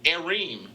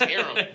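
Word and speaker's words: Keith Arem: Hey, man, I used to call Keith Areem. It's Aram.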